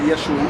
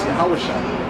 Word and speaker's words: Yahushua: It's not Yeshua either. It's Yahushua. That's his name. That's how you pronounce it in the Hebrew.